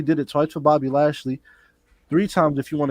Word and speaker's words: Lashley: you that yeah no i gotta say it like lashley like like you guys